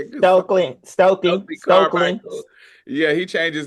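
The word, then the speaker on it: Stokely Carmichael: Stokely Stokely.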